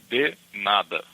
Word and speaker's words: de nada: You write in a certain way with the D-E and then N-A-D-A, but how you say it, it's a D-I in Portuguese, a de nada. So the way you say it will be de nada.